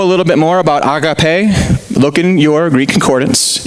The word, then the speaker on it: agape: In that word, many of us know, you probably pronounced it agape. It's actually agape, but it doesn't matter. We don't speak Greek anyways. So it's this word agape, or agape is the right way to pronounce that.